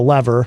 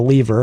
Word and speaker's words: Lever: This is from the Lever, or the Lever, however you can pronounce it either way.